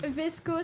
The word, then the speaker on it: VSCO: Vesco s'écrit V-S-C-O.